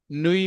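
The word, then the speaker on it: nuit: और ये इसमें टी साकन है, नुई में टी साकन है, सेल्यू में लास्ट पे टी आ रहा है।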